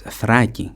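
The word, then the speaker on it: Θράκη: Thrace, the Paeonians, and it's not, I don't know if you should even pronounce it Thrace, it's Thraki in Greek.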